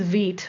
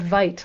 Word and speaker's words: Vite: People are saying TIL, it's pronounced Vite. I also learned that recently. I was pronouncing it Vite, like bite, but apparently it's French.